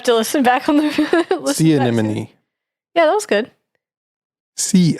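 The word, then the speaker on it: anemone: right we'll have to listen back on the see animony yeah that was good see an this is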